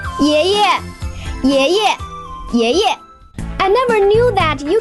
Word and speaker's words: 爷爷: 爷 second tone, but the second 爷 will be pronounced as a neutral tone. 爷爷 I never knew that you can play basketball so well.